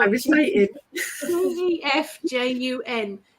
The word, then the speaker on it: Gefjun: It's spelled I was waiting. Gefjun. Gefjun.